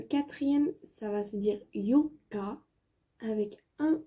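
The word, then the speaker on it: 四日: Le 4, c'est Yoka. Dans le 4, il y a un O et 2 K. Dans le 8, il y a 2 O et 1 K.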